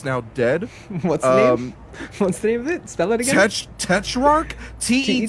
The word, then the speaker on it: Tetrarch: if I sent it to you I can't pronounce this name right so the band is called Tetrarch te t ra r CH go figure okay